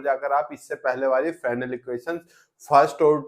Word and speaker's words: Fresnel: इसमें हम पढ़ रहे थे फ्रेशनेल इक्वेशन, जिसे हिंदी में बोलते हैं फ्रेनल, और एल आजकल साइलेंट है जिसे फ्रेने इक्वेशन ही बोला जाता है।